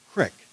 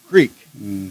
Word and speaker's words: creek: sulfur creek okay and the pronunciation was crick not greek okay so we spent